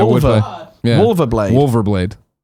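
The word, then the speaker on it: Wulverblade: But you got to say it like Wunda. Like Wunda. Well, because, like I mean, the Wunda. U suggests Wunda. like kind of more Germanic pronunciation of the W, which that's what I'm doing.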